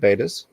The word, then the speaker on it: bettas: a beautiful pair of bettas from black label carling just type bettas or if you prefer to pronounce it betas do betas if you want to say